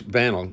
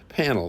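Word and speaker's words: Pannill: joined us uh Quinton Hermes and uh banel uh panel sorry p a n n i l l sorry about that pronunciation but uh both these guys as as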